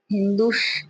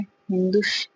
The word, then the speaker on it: हिंदू: दारा प्रथम या डेरियस प्रथम के वेस्तो परसेपोलिश नक्स रुस्तम अभिलेखों में पारसीिक भाषा में श का उच्चारण ह होने से सिंधु नदी को हिंदू या हिंदुस्त कहते हैं।